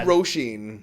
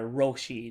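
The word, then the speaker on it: Róisín: Do you flip the R or is it a hard R? Roisin. Roisin. Yeah. Roisin. Yeah. No. Okay. It's a hard one.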